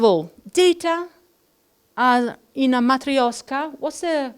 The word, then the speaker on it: matryoshka: clothes first of all data uh in a matryoshka was a correct way of pronouncing matreoshka matreoshka matreoshka thank you I suspected so data